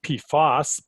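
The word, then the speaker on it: PFOS: instead here so it's in terms of the the pronounciation you'll note that this p foss is this specific individual pee fast compound and I like to use P fast when we're talking about the family of compounds just to distinguish to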